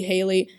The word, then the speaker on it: Haley: still feels really weird, which is why I pronounced his name Hallie the whole time. I think realistically, his name would just be Haley, and I would have to deal with that.